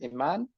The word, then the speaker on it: Iman: The am I pronouncing your name right? Imman.